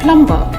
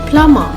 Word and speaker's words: plumber: Let's begin with the silent B.